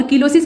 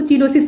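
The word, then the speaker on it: cheilosis: ठीक, और कीलोसिस की स्पेलिंग जो है वो CH से स्टार्ट होती है तो उसको चीलोसिस मत पढ़िएगा, ठीक है।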